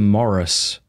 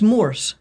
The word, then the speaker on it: Morse: No, Morse. Like Morse code, yeah. Not Morris Dr.